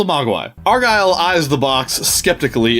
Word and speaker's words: mogwai: Yeah, That's how the white people pronounce it. And we're mogwai, and we're white people. We say mogwai.